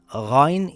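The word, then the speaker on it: غين: Ghayn is a heavy letter. It sounds similar to when you gargle some water from the throat.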